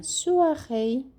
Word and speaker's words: soirée: Também o R é pronunciado e as últimas sílabas é como se fosse o rei, rei. A gente fala assim, aqui, une soirée. É como se fosse rei, mas bem suave, tá? Não é rei, não. Une soirée, la soirée.